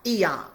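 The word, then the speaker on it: Aeon: I know it's spelled A-E-O-N, but it's pronounced Eon.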